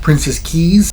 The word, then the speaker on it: Princess Cays: balcony today we're at princess Keys that's what the locals and staff calls it is spelled princess case c-a-y-s uh it's kind of